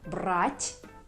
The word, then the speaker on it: брать: Брат means brother, брат, brother, and the word брать means to take. So be very careful with pronouncing this soft sign in words, because sometimes it changes the meaning.